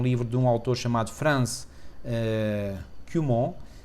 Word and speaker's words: Franz Cumont: de um autor chamado Franz Cumont, expressa o nome francês, e, portanto, estou a pronunciar de forma francófona, e o livro foi